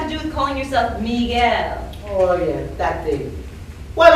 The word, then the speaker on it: Miguel: My name is not Michael. It's Miguel. M-I-G-U-E-L. Pronounce it right, or we can take this outside.